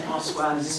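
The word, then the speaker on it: Françoise: let everybody know that my name is pronounced Francoise. Not Francois. That's the deal. It's Francoise.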